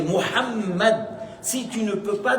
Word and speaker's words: Mohammed: me m Messager d'Allah, il faut prononcer le nom de prophète Mohammed et c'est pas mo c'est pas mes c'est Mohammed.